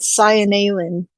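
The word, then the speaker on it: Seinalan: Oh, I have it written here that Cyanalin is how it Cyanalin? sounds. Yep, Cyanalin. That makes sense. Like I said, each vowel is supposed to be pronounced Cyanalin.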